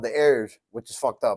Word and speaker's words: Heir: Heir is heir to the throne.